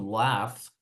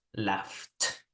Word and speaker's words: laugh: And remember that in the case of laugh, it's strange, but when you have GH, very often it sounds like an F, yeah?